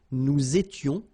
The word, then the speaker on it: nous étions: Here, little liaison and final S not pronounced. Nous étions, vous étiez, ils étaient, liaison as well here, and then remember, this is not pronounced.